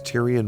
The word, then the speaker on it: Tyrion: Laurie explains why in a book she wrote using words Tyrion might speak if he could talk.